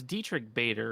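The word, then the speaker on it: Diedrich Bader: was researching this oh nice um I it's Dietrich Bader right is that how you say his name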